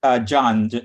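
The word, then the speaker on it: Djan: It's John, the D is silent.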